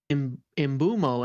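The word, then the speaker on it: Mbeumo: on a video they're like, "Oh wait, it's imbumo."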